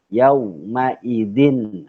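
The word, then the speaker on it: يومئذ: izin yo yo mayzeen itu bunyi tanwinnya dihukumi menjadi izhar izhar halqi maka dibacanya jelas bacaan tanwin Nyak Dien tidak boleh disamarkan di harus dibaca yaumaidzin khosiah itu ya yang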